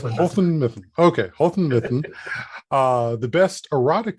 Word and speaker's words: Houghton Mifflin: the way there yeah it's Houghton Mifflin okay uh the best